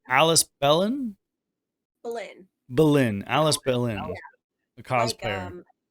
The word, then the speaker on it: Belyn: Belyn. Belyn. Alys Belyn, Yeah, a like cosplayer. like one of the wives that Henry VIII killed. Okay. Like Bolin. Okay, Bolin.